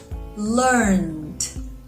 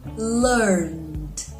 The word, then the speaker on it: learned: a soft sound so when you pronounce learned with the e d and at the end the D sounds like d let's check the pronunciation